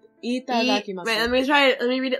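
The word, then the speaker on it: いただきます: First of all, the vowels are pronounced a lot like in Spanish. That they're, you're, I think you're, you know how in English there's long and short vowel sounds? Yeah. You're using the wrong kind.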